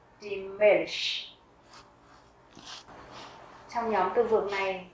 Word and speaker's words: Milch: Các bạn thấy ở đây là chữ N-C-H, âm CH ở đây mình sẽ đọc là sh, giống như chữ ich, d-milch.